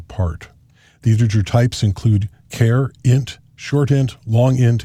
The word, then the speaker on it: char: the integer types include care int short int long int and long long int some people pronounce care as char these are all available